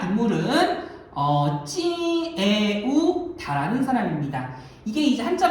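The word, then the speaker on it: Triệu Đà: 자, 사실은 이 국가를 세운 사람이 누구냐면 자, 인물은 찌에우다라는 사람입니다. 이게 이제 한자 발음으로는 조타라 발음하는 사람이에요. 찌에우가 조, 다가 타로 번역되는 글자인데 자, 찌에우다가 왜 중요한 사람이냐면 시기를 보시길 바랍니다.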